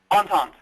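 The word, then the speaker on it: entente: the triple on and did you say on how do you say that word on tante on taunt on taunt okay and you said that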